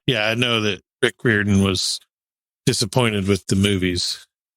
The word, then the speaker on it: Riordan: It's the Irish spelling, but it's pronounced Riordan. Yeah.